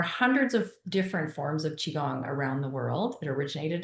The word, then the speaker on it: Qigong: And first, I want to make sure I'm pronouncing that correctly. Chiong. That's correct. Yes. Chiong.